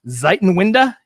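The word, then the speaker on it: Zeitenwende: there's a German term I looked up the pronunciation ziton winda means the changing of the times so I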